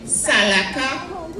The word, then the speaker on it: Salaka: and places like that, it became SALAKA because they pronounce an R very often as L.